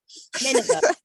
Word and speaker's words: Nineveh: Nineveh. Nineveh. Like in the Bible, that doesn't want to be in the Nineveh.